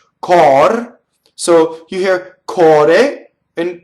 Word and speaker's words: cor: So it's open O, but in this case, the R is going to roll because it touches a D, right? It touches a consonant.